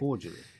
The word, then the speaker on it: cordially: one is cly see for me I say cord because I can't pronounce it properly cordially could be correct yeah like a j sound but because I can't